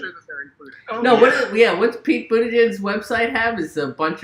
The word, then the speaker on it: Buttigieg: What's Pete Buttigieg's website have?